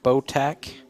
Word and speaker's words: Botach: So that is a pen from Botac. That's nice. It's spelled Botach.